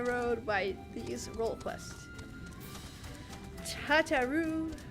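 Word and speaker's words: Tataru: Tatarou, like a Quebecois.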